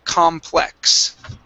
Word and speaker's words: complex: Okay, I do want to work on the pronunciation of the word complex. Complex. Okay. Remember the X is a KS sound.